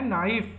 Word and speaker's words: knife: English में बोलते हैं नाइफ। नाइफ की स्पेलिंग बताओ। नाइफ की स्पेलिंग क्या होगी? के से शुरू होता है इसकी स्पेलिंग, KNIFE नाइफ। इसको बोलते हैं तो के साइलेंट हो जाता है, नाइफ नहीं बोलते हैं,